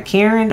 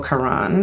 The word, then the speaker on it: Karan: Because you have been talking about this fragrance from the house of Donna Karen, or Karan, some people say it like that, but Donna Karen.